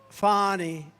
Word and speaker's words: Fani: It's pronounced Fani, F-A-N-I. That's Fanny. But she likes it Fani.